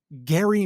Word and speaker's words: Gerry: And for the purposes of this conversation and maybe this conversation only, I'm actually going to pronounce his name correctly. So where Gary Mandering came from, in 1812,